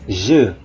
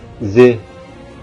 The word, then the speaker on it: je: habisnya kita suka menyebutnya Ze Ze denganar perbedaannya bukan Ze tapi je je saya jadi ingat dulu